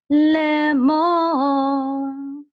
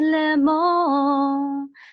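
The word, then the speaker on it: לֵאמֹר: So this is sof pasuk, and this tells you that the accent mark is on the last syllable, mo. So we would trope this as le mo.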